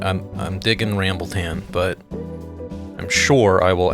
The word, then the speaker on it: RambleTan: RambleTan, three syllables.